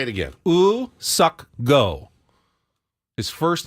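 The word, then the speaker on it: Woo-suk Go: the South Korean reliever us sucko is what they um the Padres said was the pronunciate correct pronunciation of their new relievers name in the release say it again ooh sucko his first name his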